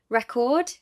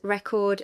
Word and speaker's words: record: Say these words. Record, noun, and record, verb. Present, noun, and present. Permit, noun, and permit, verb. Contrast, and contrast verb. Object noun and object verb. Notice how the meaning changes with stress.